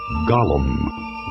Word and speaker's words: Gollum: that my beloved BBC production gets wrong the pronunciation of Gollum a slimy creature called Gollum watched him from a tiny Rock Island in